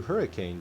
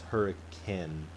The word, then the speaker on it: Hurricane: pronounce it is hurricane spelt exactly like hurricane but you can tell if you're out of state because it is people say i'm gonna go to i'm gonna go through hurricane to go to zion's